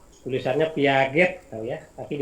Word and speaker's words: Piaget: Ya, misalnya ada Piaget. Tulisannya Piaget, tahu ya, tapi dibacanya Piaget.